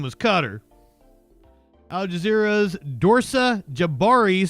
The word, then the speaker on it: Qatar: I've always thought it was Qatar. Apparently, us Westerners can't really get close to the pronunciation. It's kind of like a guttural sound. So the closest that we can get is saying Qatar, apparently.